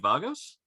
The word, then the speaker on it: Vagos: You're in their top league for, I hope I'm pronouncing this right, ED Vagos? Yeah, Vagos, yeah.